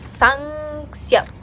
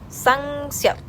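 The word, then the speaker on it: 쌍시옷: Y ahora vamos a hacer una doble S, que es así, como que la casita, y va a ser Sangseot, Sangseot, más o menos así.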